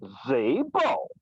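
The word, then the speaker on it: Szabo: Sabo. Oh, I'm sorry. Did I hear an echo? What was that name? John F. Zabo. Okay. John F. Zabo. Zabo is spelled S-Z-A-B-O.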